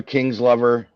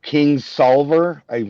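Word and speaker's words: Kingsolver: that's fine it's by Barbara King's lover or King solver I'm sure sorry not King's lover sorry um and it's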